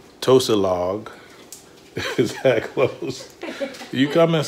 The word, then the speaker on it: Tosilog: s she corrected my pronunciation Tosa log you come and say